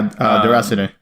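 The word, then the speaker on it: Déraciné: I'm sure I'm pronouncing that. Yeah, no. Ozzy's mentioned that to us before. Yeah, Deracine.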